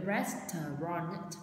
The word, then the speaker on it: restaurant: But I will be teaching with two syllables, so đúng restaurant. Đấy là nếu mà theo nguyên âm, theo âm chuẩn ấy thì mình sẽ nó đọc là hai từ thôi, nhưng mà phải có nhiều có âm t ở cuối restaurant.